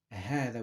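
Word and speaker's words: هذا: have to note that hada is pronounced as ahada with the heart and the alif but it's written like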